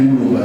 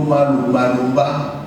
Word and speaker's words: Malumba: Bon, ici on a écrit Moulumba, c'est plutôt Malumba.